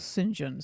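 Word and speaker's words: St John: believe one was called Sinjin said Saint John it's written but Sinjin is usually house how it's said and that deserves following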